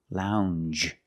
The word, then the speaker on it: lounge: Lounge. It follows the same pattern as orange and change. J. It's a regular N, plus the soft J sound.